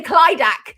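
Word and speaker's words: Clydach: Have I pronounced that correctly? I often say Clydac, but is it so?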